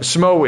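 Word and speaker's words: Smough: But Smo is pronounced Smo, apparently.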